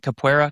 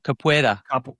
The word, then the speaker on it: capoeira: Is that how you say it? Capoeira? Capoeira. Capoeira. Capoeira. You can say it either way.